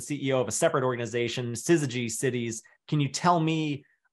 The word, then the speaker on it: syzygy: And usually, they ask me how it's pronounced and I tell them it's Syzygy, and it's an actual astrophysics term that means